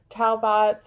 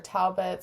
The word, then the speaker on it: Talbots: Now, the next item to sell is by Talbots or Talbits, however you want to pronounce it.